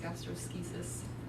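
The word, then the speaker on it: gastroschisis: formula like that okay the next one is gastrosis that's how it's pronounced gastrosis um so it's a congenital defect congenital means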